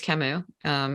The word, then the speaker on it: Camus: people find you um the company's name is is camus we're named for the french philosopher and i'm happy to